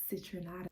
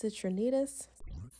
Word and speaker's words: Citrinitas: Well, let's move on to stage number 3, Citrinatus. It's actually pronounced Citrinitas.